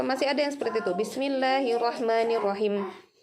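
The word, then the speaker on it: بسم الله الرحمن الرحيم: ada yang seperti itu Bismillahirrohmanirrohim ini panjang kan teman-teman boleh pilih2 4/6 kita sepakati 4 saja ya supaya tidak terlalu pendek tidak terlalu panjang empat ketukan disini kemudian diakhir minimnya ini kita sertakan sifat guna asli dari umumnya ghunnah dengungkan dan Bismillahirrohmanirrohim ada begitunya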